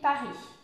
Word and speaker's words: Paris: ne se prononce pas pour la prononciation vous ne prononcez pas ici le s le s final de se prononcent par andy paris je vis à paris